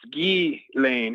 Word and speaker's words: Ghislaine: It's like Elaine, but it's Ghislaine instead of Elaine. The S is silent because it's a French name.